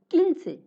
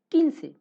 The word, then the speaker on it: quince: Quince, quince. Here U is silent because we have already